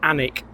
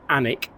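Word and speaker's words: Alnwick: pronunciation it is actually anic you don't pronounce the L and you don't really pronounce the W it's anic and it's from the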